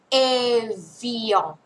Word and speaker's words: Evian: อ ก เ สี ย ง ว่ า Evian Evian น ะ ค ะ มั น คื